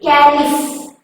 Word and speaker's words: caliph: One more word, that is caliph. Caliph. Who is that caliph? Caliph spelling. Here PH pronouncing like F.